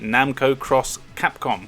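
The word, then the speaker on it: Namco × Capcom: you might want to investigate Namco cross Capcom which apparently is how you pronounce it a really cool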